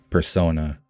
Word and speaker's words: Persona: Persona. He accentuates na in persona, which is the pronunciation of na, I, me, and made the end rhyme of the two.